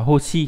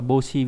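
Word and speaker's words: 星: Âm kun đọc là hoshi hoặc là boshi, ví dụ trong từ hoshi nghĩa là ngôi sao.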